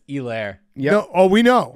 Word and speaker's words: Helaire: I was gonna say something just then, but it's Elaire. Yep. No, oh, we know. Yeah. Yeah, that was. No, we all know. We've never We've mispronounced never that. thought it was a Helaire.